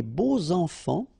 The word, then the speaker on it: beaux enfants: And here it's quite interesting because even if you've got this X, well, phonetically it will be like Z, so like if it would be an S, okay?